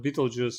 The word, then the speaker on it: Betelgeuse: I was quite surprised when I heard that English speakers call it Beetlejuice, and I was so used to calling it Betelgeuse in Russian. So I'm happy that Russian pronunciation is closer to what it should be.